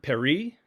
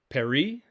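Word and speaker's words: περί: know master teacher but rabbi works the word perry perry which has the letters p epsilon rho and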